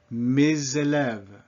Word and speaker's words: mes élèves: But my students, my pupils, that S all of a sudden is pronounced mes élèves. And we get a Z sound, mes élèves.